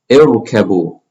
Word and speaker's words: ارْكَبُوا: This letter has a fatha. So we're going to pronounce this as a kasra. And here we go to the third letter, it has a kasra. So we also pronounce this as a kasra. So here, irkabu, irkabu.